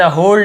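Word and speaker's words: whole: भीख में, इन द होल डे, तो डब्लू साइलेंट है, केवल हम होल पढ़ेंगे, डब्लू को नहीं पढ़ेंगे, मतलब लिखेंगे जरूर लेकिन पढ़ना नहीं, होल ऐसे नहीं बोलेंगे, होल बस बोलेंगे।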